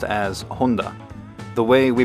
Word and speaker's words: Honda: In Japanese, the Honda company is pronounced as Honda. The way we pronounce the brand in English sounds like Honda, which means soldering iron in Japanese.